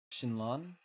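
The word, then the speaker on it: xin: know uh it's Shin shinon then shinon I just know that that x i n is usually pronounce Shin but not uh not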